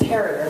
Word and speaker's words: Perrier: If it wasn't for him asking for more lemons with his Perrier that rhymes with terrier, we'd still be backstage watching INXS.